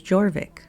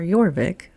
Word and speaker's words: Jorvik: It was Jorvik, or Jorvik, if you use the Anglican pronunciation or the Viking pronunciation.